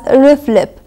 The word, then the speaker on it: RFLP: It's pronounced usually as RIFLIP.